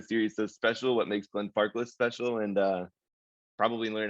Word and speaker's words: Glenfarclas: i mean you're absolutely spot on with your pronunciation of gan farques you know that's that's it's one of the